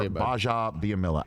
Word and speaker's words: Gbajabiamila: care of that's Akbar gbajabiamila @ Akbar under store underscore Basha which is the it's the silent G everybody silent G G ba j a on both Twitter and